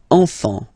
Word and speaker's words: enfant: Don't pronounce the T, you don't pronounce the S. Enfant, okay?